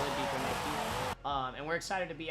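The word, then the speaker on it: Biķernieki: This is Bikernieki. We hear the American pronunciation, which is fine. Bikernieki, it's fine. We do the thing with the E, it's whatever.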